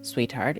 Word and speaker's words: SweetXheart: SweetXheart, pronounced Sweetheart, is a slice of life visual novel about microaggressions, race, and gender.